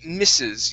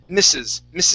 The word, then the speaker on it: Mrs.: All right, now if you see an S at the end, if you see an S here, that is going to be Mrs. You had read that as Mr. Okay, this is Mrs.